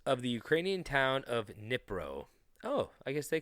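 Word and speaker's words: Dnipro: It's a silent D in the beginning.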